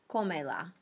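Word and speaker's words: cómela: to the end and don't forget to Accent the third to last syllable so it's comela right there okay reminder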